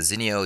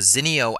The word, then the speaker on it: Zinio: Kenton Larson and you are looking at the Zeno desktop reader version 4 and I love this